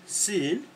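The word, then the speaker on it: sy'n: Sin, that's quite, yeah? S-Y apostrophe N, sin, yeah?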